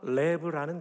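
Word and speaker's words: לב: 먼저 구약 성경에 히브리어 마음이라는 단어가 레브라는 단어입니다. 또는 레바브라는 단어가 있는데 레브에 집중합니다. 한번 따라해 볼까요? 레브.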